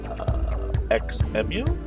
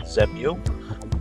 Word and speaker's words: XEMU: It does work correctly in XEMU, and that, I believe, is how LGB wants that pronounced. So I know that a lot of us have a tendency to look at it and want to call it ZEMU, but that is not, as I understand it, how it's supposed to be pronounced.